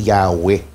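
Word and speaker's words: Yahweh: m pero pinapaniwalaan ang wika talaga ang wastong pagbigkas niyan ay yahw so saan pumapasok ngayon ng Jehovah Mm.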